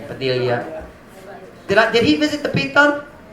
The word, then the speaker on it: Padilla: Daniel Padilla. I've seen his face on posters. Nakabusiness siya dire. How do you pronounce it? Padilla? Padilla, the Spanish name. Padilla.